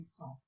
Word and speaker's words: son: Just important not to say so, it's son.